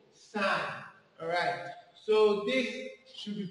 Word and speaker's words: sine: Why don't you pronounce it as sin s? No, sine.